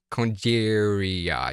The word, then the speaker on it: Congeria: It's a weird word. Congeria. Yeah, it's a sound. It's just a C at the beginning.